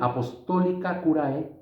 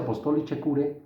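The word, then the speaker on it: Apostolicae Curae: León XIII, en su documento, en su bula Apostolica Curae, se pronuncia Apostolice Curae, busquen la Apostolica Curae,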